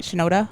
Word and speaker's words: Shinoda: I never say his last name right. Shinoda, I think is how you pronounce it.